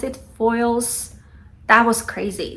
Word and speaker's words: Foyles: And oh my god, like, you'll see, but there was this one particular bookstore in London, I believe we pronounce it Foyles.